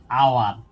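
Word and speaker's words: hour: Example হিসাবে অ্যান আওয়ার, এখানে এইচ বর্ণটা রয়েছে কিন্তু উচ্চারণ হচ্ছে আ।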